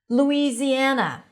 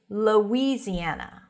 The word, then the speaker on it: Louisiana: And some people might even say Louisiana with a schwa. Very subtle. Both are okay. Louisiana. I think that's easier because of the spelling, just to think of it as an oo sound. But if you hear Louisiana, that's fine.